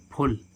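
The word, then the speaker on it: full: क्या होता है खींचना ऐसे ही देखें हम फुल एफ U double A फल तो है क्या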